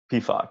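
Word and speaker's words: Pefok: Another guy we haven't mentioned, Jordan Sivachu, Payfock, or Payfock, is that how you say it? Payfock, yeah. Payfock, yeah.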